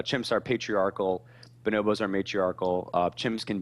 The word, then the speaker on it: Bonobos: bonobos but you said bonobos no it's bonobos so kind of like bananas bonobos so like lowercase b